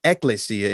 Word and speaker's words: ekklesia: the same thing but i pronounce it ekklesia and i spell it e k k l e s i a it's the greek term for the word we call church and i'm saying ecclesia so the title of